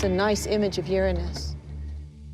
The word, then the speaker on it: Uranus: by Uranus Uranus yeah I pronounced the planets name Uranus which is very likely closer to the original pronunciation of the name of the God after it was named